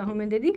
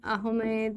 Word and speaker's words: আহমদ: সৈয়দ আহমেদ বা আহমদ খান, এটা কোথাও কোথাও ময়ে একার দও লেখা থাকে, কোথাও কোথাও ম দও লেখা থাকে, তো আহমেদ বা আহমদ দু রকমই উচ্চারণ হয়। হোমওয়ার্ক তোমরা কি করবে, এই